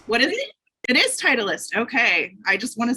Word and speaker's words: Titleist: It is Titleist.